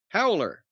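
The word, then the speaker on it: Howeler: howler who what h-o-w-e-l-e-r will you just pronounce that very high holder howler well we eat after the W made me extend it a little bit how would you pronounce it howler well let's see what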